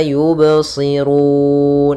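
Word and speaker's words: يبصرون: kita namakan dengan Qalqalah usahakan qalqalnya jangan sampai yubsirun ada tambahan Hamzah atau dengan saktah nah ini kurang tepat cara membacanya Adah fahum la yubsirun ya mengalir suara bnya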